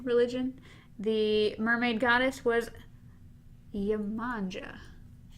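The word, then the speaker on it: Yemanjá: The mermaid goddess was Yemanja. Yemanja. It's spelled La Manja, but they have it as Yemanja. Yemanja. Like Yama. Yama.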